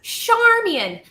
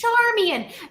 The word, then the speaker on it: Charmian: My name is Charmian. Charmian with a mian and a char and put together, and it's Charmian.